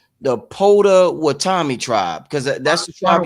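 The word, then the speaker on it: Potawatomi: What can you tell us about the um and I hope I'm pronouncing it right, the Pota Watami tribe, because that's the tribe you're from from Oklahoma. Yeah, Pawatami.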